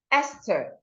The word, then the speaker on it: Esther: And these exceptions are words like Esther. So you have to produce the TH in this word with the t sound, which you've done.